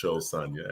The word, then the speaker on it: Sosanya: Well, my name is Sosanya, pronounced Sosanya, as in show me.